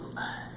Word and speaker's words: Libet: Oh, it's pronounced Libet.